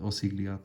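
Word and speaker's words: Osgiliath: image of a wall love that uh the osigliat channel that's how you say it don't you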